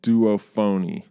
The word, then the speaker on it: Duophony: tip that the Duophony, every time I hear myself say Duophony, I feel like I have to be saying that wrong. But I asked how you say it, and I was told it's Duophony. So I hope I understood it right.